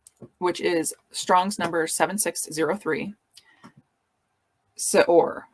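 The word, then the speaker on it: שְׂאֹר: is Strong's number 7603 Sor I guess would be an approximation of How It's pronounced and this word it's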